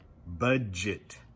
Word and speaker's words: budget: If you have trouble getting that D sound, try pronouncing the word budget. That's a word because you see the D, you think the D, and you pronounce it.